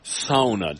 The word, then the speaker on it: sauna: And the first time I said sauna, he almost fell over.